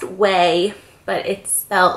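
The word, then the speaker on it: Quay: is the brand qay so it's pronounced way but it felt like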